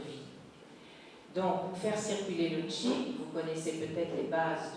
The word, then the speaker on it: qi: dans la pensée chinoise, le qi, ça s'écrit QI, et le qi, en